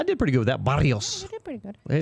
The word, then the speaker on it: Barrios: You know how to roll your tongue better. Yeah. Barrios. Barrios. There you go. Hey, I did pretty good with that. Barrios.